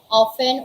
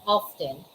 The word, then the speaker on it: often: often by the way the word often can be pronounced as often or often either way even if